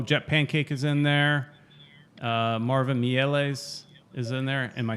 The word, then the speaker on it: Marvin Mieles: Marvin Mieles is in there.